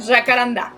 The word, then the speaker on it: jacarandá: Y por otro lado, aquí en México tenemos a las jacarandas, pero este árbol es originalmente de Brasil y Paraguay y su nombre en portugués se pronuncia jacarandá.